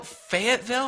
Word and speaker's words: Fayetteville: marketing director for three franchise locations in Fayetteville Fayetteville is that how you pronounce that yeah Arkansas that's correct wow fantastic